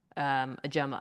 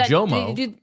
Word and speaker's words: Ojomo: dive into this, because it's been a different pronunciation guide each year of his career. Has it? Yes, it was. Okay. It was He hasn't Ojomo, and then it was Ajuma, and then very recently it's changed to Ojimo.